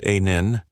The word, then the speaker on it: Anneil: According to the rule, an Indian engineer calmly replied, "One, my name is Anneil, pronounced a nin.